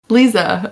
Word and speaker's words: Lisa: Lisa. Yeah, it's nice that you even had that other option. Obviously, being in the UK, Liza is more of the name, but it's we pronounce it Lisa.